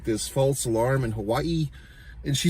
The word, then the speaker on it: Hawaii: Like she says, like the way that she even says Hawaii, I can't even do it. It's like Hawaii, like she pronounces every A and I, Hawaii, and then she's always